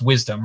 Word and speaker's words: WSDM: was a scientific conference wsdm 2021 was just recently probably pronounced wisdom right correct yes uh yeah and so